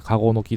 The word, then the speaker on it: 鹿の子の木: 子供の木と書いてカゴの木というらしいですね。